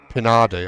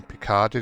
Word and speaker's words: Pinardi: And the team I went for, as you can see there, Pinardi, I was pronouncing Picardi the old time because I used to drink alcohol. Picardi.